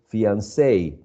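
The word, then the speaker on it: fiancé: in in general um we would say that this uh suffix attracts the uh stress so we should say fiance but what i'm saying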